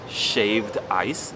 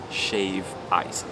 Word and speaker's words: shave ice: A lot of people pronounce it shaved ice with an ED, but it's never ever shaved ice. It's shave ice, always.